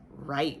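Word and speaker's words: write: at that tricky e the w is silent so we say r right we're going to be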